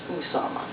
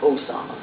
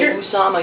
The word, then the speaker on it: Osama: to mention is that his name is pronounced Usama not Osama that's a trick to get everybody to confuse president OS Obama right if you say Usama you'll never confuse it